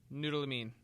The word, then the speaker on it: Noorulamin: But Noorulamin.